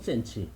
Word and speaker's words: 센치: 그러니까 그 문헌상에는 신지라고 된 것이 우리 백제 발음으로는 센치.